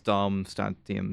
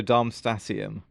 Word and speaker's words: Darmstadtium: It's hard to say the D and the T at the same time. Is one of them silent? The D is? So Darmstadtium.